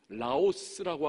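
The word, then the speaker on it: λαός: 근데 유대인들이 생각하는 나라는 라오스라고 하는 단어입니다. 라오스. 저 동남아에 라오스가 있지 않습니까? 같은 발음이에요. 발음만.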